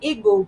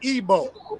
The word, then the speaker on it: Igbo: and now we say igu but it was really Eber or AB it's really ebo like like the pronunciation right the I the i in ebo is a e sound it's like it gives